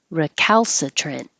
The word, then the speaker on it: recalcitrant: Recalcitrant. Don't have to say the t at the end.